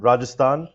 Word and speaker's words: Rajasthan: I'm sorry, maybe you can help me with the pronunciation of rajashlan. So that's uh Sundarbans and Rajasthan which is the deserts of the west or the western part of India.